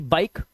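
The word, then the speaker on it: bike: लिखा है बी आई के ई बाइक। अब यहां पर ई जो है लास्ट में है तो इसे पढ़ते हैं बाइक।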